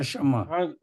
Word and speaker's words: شمع: اس کا تلفظ یاد رکھیے، شمس کے وزن پر ہے. شمس آپ کیسے بولتے ہیں؟ شمس، شین پر زبر ہے، میم سین ساکن ہے. شمس سورج، جس طرح شمس اسی طرح شمع، یعنی شین پر زبر